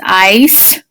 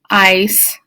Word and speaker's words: ice: one same thing here the c is a soft c so i have the squigglies line here a bar over the eye so the e is crossed out that sneaky little e jumps over the consonant which is the c and it nudges the eye to say its name so this is ice ice dice keep going all the